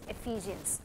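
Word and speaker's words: Ephesians: था, so this is एफिजियंस. Okay, ये मैंने पीछे बोलना आपने, गलातियंस, एफिजियंस, एफिजियंस. ई की साउंड क्या है? ए, तो एलिफेंट से एफिजियंस, तो आपने ऐसे ही प्रोनाउंस करना है.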